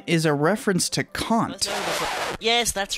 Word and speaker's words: Kant: Its name is a reference to Kant. Yes, that's right, Kant. That's how you pronounce it. Not Kant, not Kant, not Jones, but Kant. It's a German name, and I'm quite happy